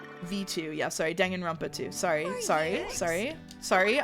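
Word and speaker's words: Danganronpa: Dang and Rampa too. Sorry. Sorry. Sorry. Sorry. I I committed to saying to saying it correctly, too. So, it's Dongan Rompa too.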